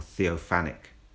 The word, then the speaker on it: theophanic: pronouncing the word wrong I keep saying all sorts telephia Tel for this Tel for that and the word is Theo theop or theophanic theophania so I hope that's